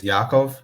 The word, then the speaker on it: Yakov: but yes i mean the technically proper way to pronounce my first name is yaakov like the a is in like ah okay but uh otherwise